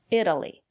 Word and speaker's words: Italy: look at these examples Italy it Italian Italy the syllable after the letter T is not stressed we pronounce the letter t as a fast D Italy I've never been to